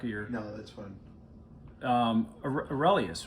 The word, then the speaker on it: Aurelius: Aurelius, right? Am I Yeah, so pronouncing that right? that's a bust of Marcus Aurelius. Aurelius, yeah.